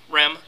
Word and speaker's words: REM: r r but yeah pronounce REM like rapid eye movement REM okay ah REM okay